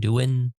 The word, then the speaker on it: Douyin: WeChat, Bilibili, and I don't know how to pronounce that one. It's Douyin. Douyin.